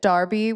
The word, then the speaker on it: Derby: Did you So, did you know that Darby, where Mel is from, is spelled with an E and not an A?